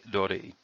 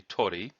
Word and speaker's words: Dori: The second character, Dori, which by itself would be Tori, is the word for seas.